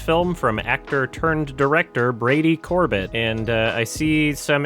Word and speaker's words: Brady Corbet: Reddit user rayj uh for this clip it's Brady Corbett Corb Corb Corb the French pronunciation yes anyway this film is nominated for